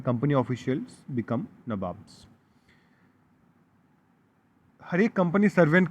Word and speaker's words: नवाब: नबॉब्स क्यों बोल रहे हैं यहां पे? नबॉब्स इसीलिए बोल रहे हैं क्योंकि कंपनी जब स्टार्ट किया नवाब बनना तो उनको एक्चुअली प्रोनाउंसिएशन में नवाब बोलना नहीं आता था। तो वो लोग नवाब्स बोलते हैं। नबाब्स। तो इसी के उनका जो